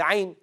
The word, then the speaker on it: ع: The ayn, how do you say it correctly? You run the sound of the letter for a bit.